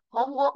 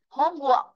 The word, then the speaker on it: homework: Homework là bài tập về nhà. Chúng ta ghép từ chữ home với chữ work là công việc. Vì vậy nó sẽ rơi vào chữ home. Đấy, homework thì nó vào chữ home.